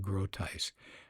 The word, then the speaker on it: Groothuis: That's g r o o t h u i s. First name Douglas. Last name is pronounced Groothuis.